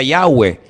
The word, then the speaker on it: Yahweh: Ese nombre se pronuncia Yahweh.